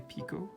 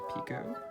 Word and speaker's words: picot: can be mispronouncing that spelled p-i-c-o-t my french pronunciation wants to say pico it could be pick it i have actually now i think that's probably pick it whatever uh chain five